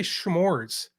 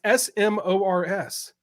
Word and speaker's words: s'mores: And I'm like, why do people say schmores? It's SMORS, s'mores, right?